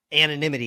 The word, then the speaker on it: anonymity: Anonymity. Yeah, I couldn't It's get the word out. I said it right earlier. Anemone. It's an anonymity.